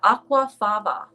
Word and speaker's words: aquafaba: Yeah, aquafaba. Aquafava. Aquafaba. Aquafaba. Yeah. Their FAVA is, the V is pronounced as a B, I believe.